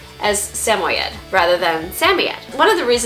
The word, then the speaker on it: Samoyed: Well, in Siberia, their name is pronounced Samoyed. Now, if you're ever in doubt as to how to pronounce their name, if you can't remember, okay, which way am I supposed to pronounce it? Well, any of those ways is perfectly acceptable.